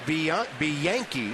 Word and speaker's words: Bianchi: Going to see Jeff Bianchi, is how he actually pronounces his last name, infielder.